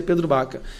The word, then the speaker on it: Pedro Vaca: E nosso gabinete está em contato direto com o grupo do Pedro Baca, com assessores do Pedro Vaca, mas pronuncia Pedro Baca.